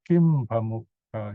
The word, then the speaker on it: Kiṁ: You can pronounce it as Kim Pamukha, if you like, because of the P. M and P, when you pronounce Kim, you have to close your lips. Notice Kim, okay, without the dot, okay, Kim. Then P is also, the lips are closed, so they kind of go together.